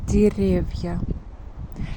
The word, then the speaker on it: деревья: By the way, here we pronounce not e, we pronounce something between e and e. Деревья, because this sound is not stressed.